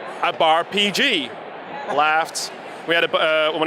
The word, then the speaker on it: BarPG: So we evolved from BarPG thanks to our Dutch followers, yes, who kept mispronouncing it as Bar Pig.